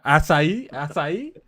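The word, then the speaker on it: açaí: Acai. Okay, you got it right. That's right. That's right. Acai. Yeah. I heard some people say Akai. I'm like, no, it's not Akai.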